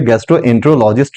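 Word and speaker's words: gastroenterologist: जो कि गैस्ट्रोलॉजिस्ट बिल्कुल प्रोफेशनल वर्ड नहीं है, तुम गैस्ट्रोलॉजिस्ट ना यूज करके गैस्ट्रोएंट्रोलॉजिस्ट यूज करेंगे। देखो साइलेबल क्या है, गैस्ट्रोएंट्रोलॉजिस्ट, गैस्ट्रोएंट्रोलॉजिस्ट, हम ऐसे इसका प्रोनाउंसिएशन करेंगे।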